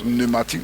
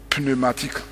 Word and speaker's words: pneumatique: Il y a un P au départ, mais on prononce pneumatique, on ne dit pas pneumatique.